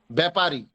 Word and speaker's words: ব্যাপারী: একটু করে দিলেই হবে ব্যাপারী ব্যাপারী ব্যাপারী ব্যাপারী শব্দের শুরুতে জফলা আসলে তার কোন কাজ নাই একটু এর মত উচ্চারণ হয় শব্দের মাঝে বা শেষে